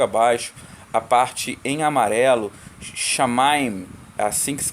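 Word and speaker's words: שמיים: Shamaim, assim que se pronuncia.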